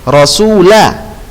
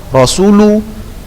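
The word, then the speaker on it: رسولَ: Jadi anna Rasulullahi, Rasulah. Perhatikan baik-baik tanda bacanya, fathah. Karena sebagian Ustaz dengarkan harusnya dia fathah dibaca dhammah. Rasulullah, Rasulu.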